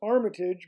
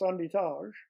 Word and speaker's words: Armitage: the others were Italian my name is Armitage but in Quebec it's pronounced andage and I work with my